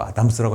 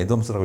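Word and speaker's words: Adams: 그 다음에 이제 26번 하는 게 애덤스가, 여기 또 아담스라고 했는데, 읽을 때 애덤스라고 읽어야 되겠죠? 애덤스인데, 애덤스가 공정성 이론을 했어요.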